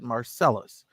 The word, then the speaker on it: Marsalis: and you know no his name is marsalis yes but it's marcellus they pronounce it marcellus they don't pronounce it